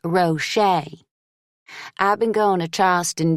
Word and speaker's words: Rochet: Every year, my teachers say my last name wrong. They say Rochett. I have to tell them it's pronounced Rocher.